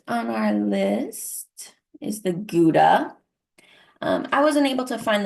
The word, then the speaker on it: Gouda: So what I learned is actually, although I pronounce it Gouda and most people around here probably do, technically it is pronounced Gouda.